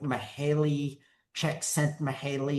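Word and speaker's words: Mihály Csíkszentmihályi: It's like it's pronounced like mahaley checkent mahaley.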